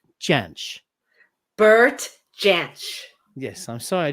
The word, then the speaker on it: Jansch: passed away though until did you say janice janich how do you say it i gotta watch who jamsh okay everybody listening let's try it all together now bert chance bert yes i'm sorry